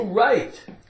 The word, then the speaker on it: write: W-R-I-T-E. Take off the W, right.